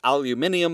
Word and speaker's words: aluminium: I know when I first said it I said aluminium like in a Brit that's generally how I think of it because that's that makes sense as to how it's spelled so now we have